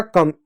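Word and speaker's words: come: एम से म होगा, होगा कम, ई साइलेंट होगा।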